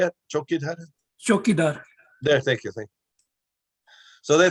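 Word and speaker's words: चौकीदार: Chokidar.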